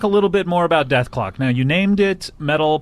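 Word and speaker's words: Dethklok: know what i uh the show name was created so that people would call it death clock anyway yes because there was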